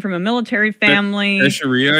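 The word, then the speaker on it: Teixeira: a mil military family teria I think is how you say it teria gotcha he was an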